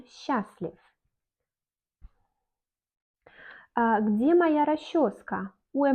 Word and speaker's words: счастлив: On счастлив, on écrit счастлив, mais on dit on счастлив.